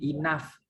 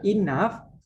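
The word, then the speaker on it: enough: di dalam banyak kata di bahasa Inggris itu banyak huruf-huruf yang tidak dibaca sampai seperti Inaf cukup Gitu ya inep G hanya itu dibaca f1ace kalau itu gayanya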